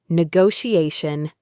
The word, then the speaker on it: negotiation: Another business word, negotiation. Negotiation. There are two t's in this word, but they both make a soft h sound.